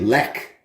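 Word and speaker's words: Lech: chevy but uh uh when it comes to polish beer it's silent instead it's a hard k so this one's actually lek is how you say that one now you look at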